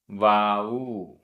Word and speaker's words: वाऊ: वाऊ, यहाँ भी ऊ बड़ा है। वाऊ।